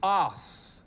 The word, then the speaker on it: os: or a wheel, and this word also is os. That's how it's actually pronounced, and it's spelled O-S, and it means in archaic